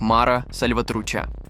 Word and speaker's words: Mara Salvatrucha: группировок во всём мире А название её читается как Мара сальватруча так вот если вы